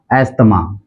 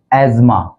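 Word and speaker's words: asthma: का जो उच्चारण है हम करते हैं अस्थमा अस्थमा लेकिन इसका जो एक्चुअल प्रोनंसिएशन है वह है एजमा एजमा यह टू सिलेबल वर्ड है इसमें एज मा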